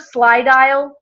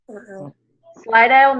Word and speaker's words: Slydial: So has anybody heard of Slydial? Slydial? No. Okay. Love this. You want to write this down. Let me spell it for you. Sly, S-L-Y. You get what it's like, sly, sneaky, right?